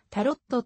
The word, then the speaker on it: タロット: 払う必要があるフランス語や英語ではタロットの語尾の t を発音せず日本語のたろに近い発音となるが日本語では語尾の t を発音しタロットと呼ぶのが一般的であるちなみに多言語